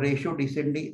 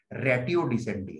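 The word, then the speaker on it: ratio decidendi: इसको एक रेटियो डिसेंडी भी प्रोनाउंसिएशन है और रेशो डिसेंडी ऐसा भी प्रोनाउंसिएशन कर सकता है। एक्चुअली करेक्ट प्रोनाउंसिएशन रेटियो डिसेंडी है, लेकिन सब लोग रेशो करते हैं, फिर हम भी रेशो करते हैं, लेकिन अगर डिक्शनरी मीनिंग देता है तो रेटियो डिसेंडी ऐसा प्रोनाउंस करता है।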